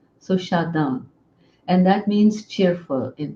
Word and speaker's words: Shadan: Shada so that became my nickname and Shada is spelled s h a d a n uh at one point I was going to